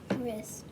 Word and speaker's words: wrist: a one-syllable word remember if you have wr at the beginning it's just an r who sound help her